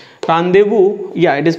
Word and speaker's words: rendezvous: Rendezvous, yeah, it is pronounced as rendezvous, hideouts or whereabouts.